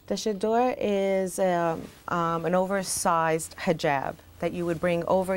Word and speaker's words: hijab: We've called this a hijab. Mm-hmm. Is that pronounced correctly?